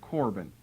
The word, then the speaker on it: Corban: K may be better because it's a hard C sound, which is a K sound, but most of the time you see it spelled with a C.